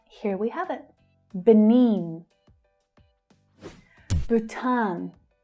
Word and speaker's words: Bhutan: Bhutan, Bhutan. So again, there is a long vowel sound in the first syllable, but the second syllable is the stressed one.